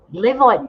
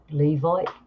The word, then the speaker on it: Levite: Now, the Levite priests, Levite priests, I think I'm saying it right, Levite priests.